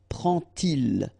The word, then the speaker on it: prend-il: And so this little d here is in red just to show you that you won't pronounce it like d to make the liaison, but you will pronounce it like t. And so you will get prend-il, okay?